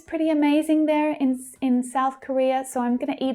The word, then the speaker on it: Korea: So we have South Korea. Korea. So that's the second syllable that's stressed there.